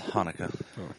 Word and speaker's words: Hanukkah: Or is it Chanukah? It's Hanukkah. The original spelling is Chanukah. Yeah, I don't know the The difference. C is silent.